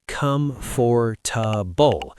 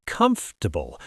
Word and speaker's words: comfortable: Many learners say come for with four syllables. But native speakers often say comfortable or even comfortable really quickly.